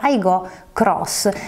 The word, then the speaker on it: Aygo X: conoscenza della nuova Toyota Aygo Cross, la compatta cittadina che punta anche alle flotte. Si scrive Aygo X, si chiama Toyota Aygo Cross, l'ultima arrivata nella gamma delle compatte della casa giapponese.